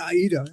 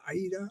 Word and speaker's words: AIDA: I call it Aayita. I the pron right pronunciation varies from IDA to Aayita. I like I prefer Aayita. It sounds more dramatic.